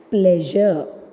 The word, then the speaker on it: pleasure: and closing the slashes now the example is pleasure pleasure how we are pronouncing that pleasure number pleasure but actually what's the pronunciation the pronunciation is pleasure pleasure purplish lip plus a plus